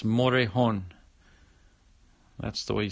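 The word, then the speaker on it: Morejón: the Rays Alberto for the Orioles Oh Adrian Morejon for the Padres and that is how you pronounce it by the way it's motor horn I've heard some people say Morgan but it's motor a horn that's the way you say it with the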